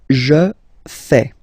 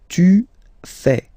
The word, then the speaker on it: fais: Je fais. Je fais. Remember, final S not pronounced. Je fais. Tu fais.